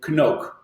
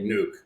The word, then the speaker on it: Knook: yeah I'm I'm 100% so native duts will say Koke but I'm after after being for 10 years in the US I'm totally accustomed to the silent k nuke so BS I must